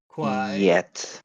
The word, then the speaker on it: quiet: number two Qui quiet that's why that e in the middle is very very important because you have to separate the two syllables and you do that by repeating whatever whatever this final vowel sound is that's what you have to repeat in this case it's e do you understand um